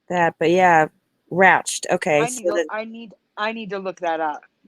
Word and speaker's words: Ratched: When you were saying it, I'm like, I don't remember Hatch, so it was Hatchet. But it was Ratchet with an R. Ratchet, sorry, Ratchet. I don't remember And now it's Ratched.